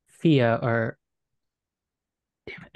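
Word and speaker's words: Fiadh: Thea, or, damn it, it's Irish and I can't remember. I literally wrote down the pronunciation and I can't find it. What is it? Let me help. F-I-A-D-H.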